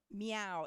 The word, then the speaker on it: Miao: you okay so why we're changing we have meow it's you know it's spelled Min but it's pronounced meow so it's me meow it's it's hard for